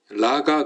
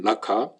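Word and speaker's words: ῥακά: 자, 오늘 여기 말씀해 보니까 라가 그랬죠. 라카인데 이제 좀 정확히 발음하면 라카.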